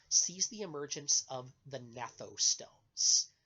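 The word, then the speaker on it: gnathostomes: the emergence of the natto stones GN silent G G an a th o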